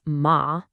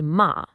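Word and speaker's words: 马: The second character is ma. That's pronounced ma.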